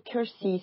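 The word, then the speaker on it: Keirsey: de manière très proche du MBTI qui s'appelle Cury ça s'écrit k e i r s y il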